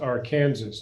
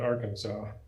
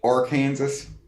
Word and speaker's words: Arkansas: get out of your state the river is pronounced are kansas not arkansas actually it is in in kansas that's what they call it in can in camp in kansas they call the arkansas river or kansas yeah and there's a city on it i